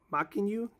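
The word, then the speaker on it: Mackenyu: so right there you got Zoro played by maku that's how you pronounce his name and you got Nami over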